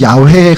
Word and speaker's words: 야훼: 우리 지난번에 했지만 원래 이 발음은 야훼에 가깝다고 이제 성경학자들이 얘기하는데 발음을 안 하다가 잊어버리니까 아도나이의 그 발음, 그 모음을 차용해서 붙이다 보니까 여호와라는 발음이 나오는 거예요.